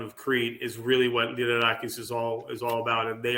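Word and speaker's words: Lyrarakis: Liderakis. Liderakis.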